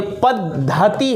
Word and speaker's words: पद्धति: पद है, आधा है, तहसी है, ठीक ना, क्योंकि इसका उच्चारण भी बच्चा गलत करता है। ये पद्धति है।